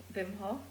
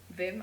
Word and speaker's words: Wim: don't know him it's w-i-m-h-o-f when vim i think it's pronounced but um and he